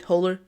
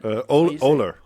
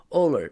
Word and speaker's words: Ohler: Am I pronouncing your last name right? Holler. Is that Oler? Oler. Okay, there you go.